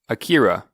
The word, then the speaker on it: Akira: Okay, is it pronounced Akira or Akira? I believe the more Japanese pronunciation would be Akira. Okay. And then that's what I was wondering, because I've heard it being said both ways. I've only heard more of the Western pronunciation of Akira. I think that's just how we would pronounce words in the West, but in the East it would be more so Akira.